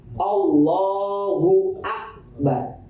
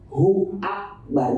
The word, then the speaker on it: Allahu akbar: Allahu akbar harus jelas jangan sampai seakan-akan Anda menambahkan huruf di antara Allah dan Akbar itu huruf wau biasanya yang yang agak eh kepleseset Allahu akbar bacanya Allahu W huak itu seakan-akan ada tambahan huruf wau salah harus kalau kata orang Betawi harus Danta Allahu akbar hu Akbar jangan Hua huakbar terlalu diseret itu bisa